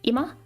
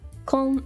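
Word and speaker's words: 今: This one is now, which is ima, kon, or kin, like konnichiwa or kyou.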